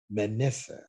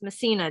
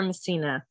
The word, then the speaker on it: Messina: artist for you today her name is manessa how are you doing today good last name is pronounced Messina Messina I'm doing great yes yes I do apologize